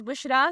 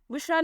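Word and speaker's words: Bushra: है बहिश्त और जन्नत the next name is बुशरा spelling है बी यू एस एच आर ए बुशरा नाम के मानी है खुशखबरी नाम है लारे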